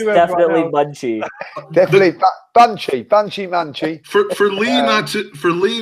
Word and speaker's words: Monchi: You found a way of mispronouncing Monchi. It's definitely Munchi.